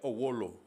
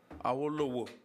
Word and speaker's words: Awolowo: Yeah, I struggle pronouncing Owolo. Awolo. Awolowo. Yes. Oh, Awolowo.